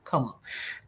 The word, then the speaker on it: Comeau: Como.